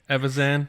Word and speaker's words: Evazan: Evazan.